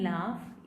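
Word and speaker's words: laugh: जैसे घ is pronounced, GH is pronounced differently in लाफ. इसमें यहाँ पे इसका साउंड क्या होगा, लाफ. फ यहाँ पे दो, यहाँ पे ऑलमोस्ट ये साइलेंट ही है, इसका कोई साउंड ही नहीं है.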